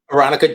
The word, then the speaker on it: Aronica: The last name's pronounced Aronica, just the way Alessandra pronounced it.